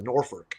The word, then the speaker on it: Norfolk: Norfolk, that's how they say it.